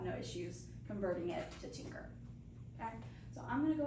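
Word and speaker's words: Tynker: So if that applies to you, another really great resource is called Tinker. It's spelled T-Y-N-K-E-R.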